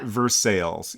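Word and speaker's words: Versailles: have a town town called versailes pronounced versales yeah I feel like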